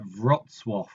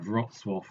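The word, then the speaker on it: Wrocław: it's pronounced something like vwo um so is written like this um so but my polish is non-existent but I think it's something like vwo um anyway so he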